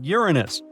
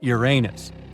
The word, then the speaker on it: Uranus: Actually, astronomers say we should be pronouncing it like Uranus, not your anus.